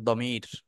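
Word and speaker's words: ضمير: এই শব্দটাকে বলা হয় দমির দমির বা জমিরও বলা হয় দকে জ এর উচ্চারণও আছে দমির দল্লিন জল্লিন এগুলো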